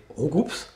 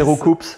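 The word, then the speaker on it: Roucool: pas quoi, On ça va sera faire un Roucou. hashtag Roucou. Roucou de retour. Oh, il faut absolument pas Justice. prononcer Roucoups.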